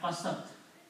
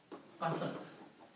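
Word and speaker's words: قَسَتْ: So in the pronunciation, this waw drops out, it is not pronounced. So the word is left qasat. Qasat.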